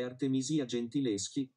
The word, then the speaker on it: Artemisia Gentileschi: La pronuncia corretta è Artemisia Gentileschi, grazie.